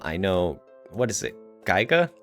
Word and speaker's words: Giga: Um, I know what is it, Geiga. Giga, how you pronounce it? The creators of Boulder Gigas. Giga. Yeah. Of Baler Sky.